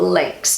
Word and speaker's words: links: So just say a chain, it has a lot of little links to form a chain. So they're all connected together. In German, the word links is pronounced Links. links, and it means left.